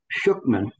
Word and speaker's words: Shukman: Last week or recently, Steve had a guest, Henry Shukman, and is that how you pronounce his name? That's right. Yeah.